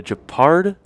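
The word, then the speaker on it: Guépard: But I'm going to stick, I think, between those two, the Guepard and the Guepard and the Guepard. I know the Pard, the last syllable is the Pard, but we're going to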